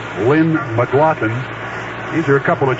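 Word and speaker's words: McGlothen: mclaughlin that's mcgl o t atm and it's pronounced mclaughlin lynn mclaughlin these are a couple of transplanted american leaguers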